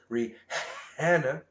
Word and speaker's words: Rihanna: I'm pretty sure her name is pronounced Rihanna.